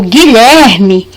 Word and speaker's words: Guilherme: por exemplo guilherme guilherme quando eu falo guilherme eo ele não é pronunciado eu não falo bi tá eu falo gui então por isso que